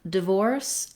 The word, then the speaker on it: divorce: So both divorce and diverse have second syllable stress. So the first syllable in divorce, in the dictionary, you're going to see it with a little I symbol. That's for the lax, unstressed I vowel, like in did and didn't.